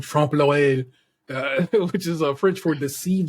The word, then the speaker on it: trompe l'oeil: Ellie came through with the French pronunciation trompe l'oeil, which is French for deceive the eye, which is what I went and looked up.